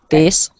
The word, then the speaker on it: this: v and then the next word it's not pronounced the same way it's pronounced with the soft eye this this this good so in the second word the s sounds like an s not a z and the i sounds like an i not an e okay